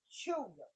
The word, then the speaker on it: Tchula: My parents come out of Chula, which is spelled Tchula, Mississippi.